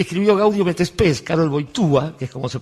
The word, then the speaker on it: Wojtyła: Por eso, el que escribió Gaudium et Spes, Karol Wojtyła, que es como se pronuncia Wojtyła en polaco, intentó dar otro perfil.